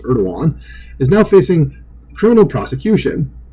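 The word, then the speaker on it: Erdoğan: I just know his last name is pronounced Erdogan is now facing criminal prosecution.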